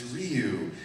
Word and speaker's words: Ryu: ryu it's like okay capcom hired me and they told me how it's pronounced it's ryu and hadoken just doing